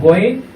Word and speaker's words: غين: এরপর হরফের নাম হলো গইন। এটা হবে মোটা এবং শ্বাস বন্ধ থাকবে। এটা হলো মাকরাজ 3 অনুযায়ী আমাদেরকে উচ্চারণ করতে হবে।